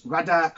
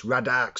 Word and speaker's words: Vradark: I'm going to say it's Radark Sphere. Yeah, we'll say the V silent by the Sanchez crew.